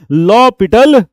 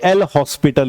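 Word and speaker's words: L'Hôpital: बिल्कुल सही सुना आपने, नाम है लॉपिटल रूल, ना कि एल हॉस्पिटल रूल। ये पता नहीं कहां से प्रथा चली आई है कि उसका नाम एल हॉस्पिटल पड़ गया, लेकिन उस बंदे का नाम हॉस्पिटल नहीं था। कोई माँ बाप अपने बच्चे का नाम हॉस्पिटल थोड़ी रखेंगे, तो उसका सही नाम था लॉपिटल।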